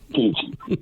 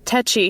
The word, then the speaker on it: tetchy: Teachy. Anyway, that's about it. Cheers her up. Have a great one. All right, let's see which pronunciation it actually is. Tetchy.